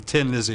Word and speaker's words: Thin Lizzy: all the Irish people, They won't be able to pronounce it Thin Lizzy, it'd be Tin Lizzy anyway, So that's how that came about.